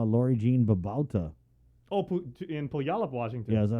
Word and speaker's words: Puyallup: Oh, in Puyallup, Washington.